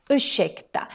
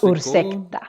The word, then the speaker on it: ursäkta: And just like we mentioned with the word varsågod, ursäkta also has this sh sound because we have an RS put together. So important that you pronounce this as ursäkta and not ursäkta. No, ursäkta.